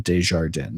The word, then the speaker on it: Desjardins: And Jason, by the way, my last name is pronounced like a newscaster proclaiming this just in, Desjardins.